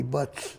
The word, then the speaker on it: Buzz: id up here although buzz should be in it wouldn't be buzz in german it wouldn't be buzzing no because it because a z is pronounced like ts so it'd be butts butts the volkswagen id